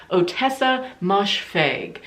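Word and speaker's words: Ottessa Moshfegh: was my year of rest and relaxation by otessa moshfeg i believe is how you pronounce her name and this was a dark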